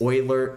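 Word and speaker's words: Euler: but like it's still annoying that it's it's Oiler it's not Oiler and oid or eer and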